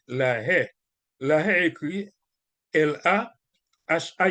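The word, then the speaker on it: La Haye: ha la ha écrit l a h a e si vous voulez prononcer la ha mais monde qui dit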